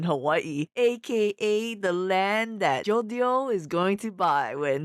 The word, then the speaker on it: Jodio: a drug meal too is it yolio or jodio his name is jodio but the Spanish people will pronounced as jodio like jalapeno and two is Hawaii